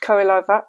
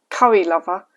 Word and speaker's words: Kurilova: I'm pretty sure it's pronounced Kurilova and not curry lover, but I forgot to check with her on that.